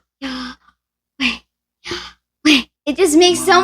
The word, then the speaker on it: Yahweh: It is pronounced Yahweh.